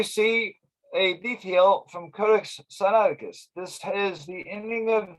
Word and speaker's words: Sinaiticus: sinaiticus and by the way although i'm saying sciatica it really should be pronounced sinaiticus but it's a as a habit but what